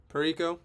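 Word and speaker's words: Parayko: Pero.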